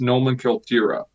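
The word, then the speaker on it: номенклатура: In Russian, it's pronounced nomenklatura.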